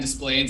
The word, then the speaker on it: Des Plaines: It's in Des Plaines.